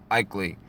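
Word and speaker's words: ICLEI: for local environmental initiatives common known as ikeli pronounced ikeli it's implemented locally by municipalities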